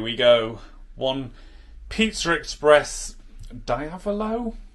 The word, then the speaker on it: diavolo: go one pizza express diavalo diavolo how are we pronouncing that diavolo yeah so um looks